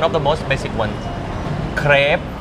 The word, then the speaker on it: crêpe: the most basic ones Crêpe Crêpe Not crepe Crêpe Crêpe Where is the R? The R is missing No, no, I say it Oh really?